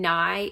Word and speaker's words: Nye: And the first name Nye is spelled like knight, like the medieval warrior knight, but with no T at the end.